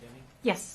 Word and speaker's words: Deming: Miss Deming is pronounced Deming?